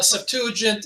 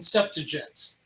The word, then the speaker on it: Septuagint: mean by the way i've heard it pronounced uh septuagint and septuagints so you know depending on what coast you come from it doesn't matter to me how you pronounce it use lxx and you